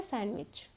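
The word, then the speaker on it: sandwich: ना उनके प्रकार है जो सैंडविच लिखा है तो यहां पर दी होता है वह साइलेंट होता है इसको पढ़ते हैं सैंडविच दिखाओ इसका आंसर हो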